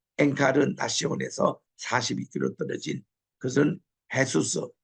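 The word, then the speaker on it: Jesús: 여기도 보면 트리니다드로부터 한 10km 떨어진 또 엔카르 나시온에서 42km 떨어진 그것은 헤수스. 헤수스는 예수님을 이 스페니시로서는 헤수스라고 읽어요. J를 H 발음 걸로 읽습니다.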